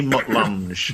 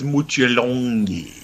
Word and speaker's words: Mutt Lange: Yeah, I'm here to see Mutt Lange, and it's like no, it's Mutjalongi.